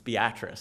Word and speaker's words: Beatrice: It's funny, it's Beatrice. I had to pronounce that several times. It's spelled Beatrice. Beatrice. Sure, they corrected me several times.